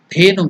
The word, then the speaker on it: Dhenu: The pronunciation is da, dha. Consonant. So it is alpa prana, maha prana. Less energy, more energy. So there is more energy. Maha prana. The. Da. If you put a kara, that is the vowel a, add it, it becomes de. Then if it is maha prana, more force, the. Dhenu mudra.